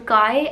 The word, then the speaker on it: Kya: Now this book is about this girl Kai, and I don't know if I'm pronouncing her name properly. The spelling is Kya, and I think I'm supposed to pronounce it as Kai.